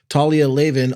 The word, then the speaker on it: Talia Lavin: time before Elon saw fit to um ban Talia Leen author of culture Warlords and wild Faith how